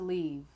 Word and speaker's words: leave: Leaf, the E sound is very fast, leaf. And then in leave, the E sound is longer, leave. That's a beautiful leaf. He wants to leave.